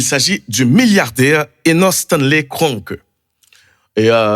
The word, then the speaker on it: Kroenke: Eh bien, il s'agit du milliardaire Enos Stanley Kroenke. Et si elle prononce comme ça, c'est parce que famille, monsieur, c'est d'origine allemande, qu'il faut, ouais, peut-être l'état important pour nous prononcer que, hein, et normalement.